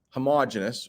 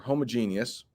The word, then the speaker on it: homogeneous: If something is homogeneous or homogeneous, you'll hear both pronunciations, it means it's made up of the same people.